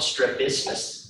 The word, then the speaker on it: strabismus: So that is called strabismus and it's called it's spelled s t r a b i s